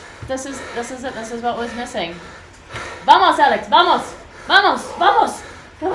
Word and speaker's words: vamos: And the V in the Spanish language is pronounced like B, so vamos. But I always get confused and say vamos.